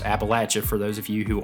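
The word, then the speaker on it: Appalachian: in the beautiful appalache mountains and yes it's pronounced appalache for those of you who aren't from here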